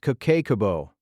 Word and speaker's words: Kakeibo: She called it Cakebo, pronounced Kabo.